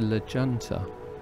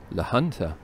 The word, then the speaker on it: La Junta: of guys from Maine one of them corrected me that I wasn't going to La Junta but the hunter because the Spanish pronounced Jays with an H sound they got very drunk